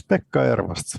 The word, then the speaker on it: Pekka Ervast: Yes, Pekka Ervast. You pronounced it pretty well.